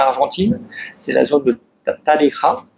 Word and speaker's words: Tarija: C'est la zone de Tarija, T-A-R-I-J-A. Les R et les J sont difficiles à prononcer.